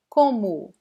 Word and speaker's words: como: Como, como. Repeat. Como, como. So we have this nasal sound in this first vowel, and the last O is pronounced like a weak U.